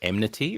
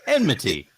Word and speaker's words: enmity: so apologies for that best way to remember is just n and then midi i've been pronouncing it